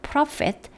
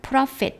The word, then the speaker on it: prophet: by 누구누구에 의하여 by the prophet 마이카. prophet 이 부분은 F 발음입니다. 여러분 제가 이렇게 할 때 여러분도 부지런히 이렇게 같이 입으로 따라 하셔야만 됩니다.